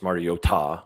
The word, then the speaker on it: Mariota: I said it I texted it last night that regardless of how you feel about Marcus Mariota, which is he mispronounced his name. It's Mario Ta.